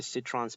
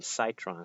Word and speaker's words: Citron: should be similar to citron's power you know i call him cytron because i think cytron sounds like a cooler name but the real pronunciation is citron because he sits anyway brain freeze should